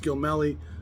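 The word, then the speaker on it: Gil Mellé: I've heard of different pronunciations. Some of the people I know say I know it's Gil Melly, but I'm pretty sure I heard him say Gil Mel himself, but I'm not positive.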